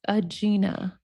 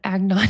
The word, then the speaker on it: Agina: My name is pronounced Agina, not Agnon.